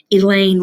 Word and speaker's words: Elaine: Elaine rhymes with pain.